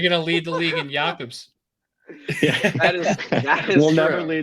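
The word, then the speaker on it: Jakub: Jakob. Jakob Lauko. I almost said Zaboral. Yeah. Oh my God. You guys are gonna lead the league. You're gonna lead the league in Jakobs.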